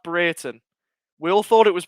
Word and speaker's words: Brereton: pick up the pieces for rovers it's actually pronounced britain it's pronounced breiten we all thought it was brereton but he corrected it i he said he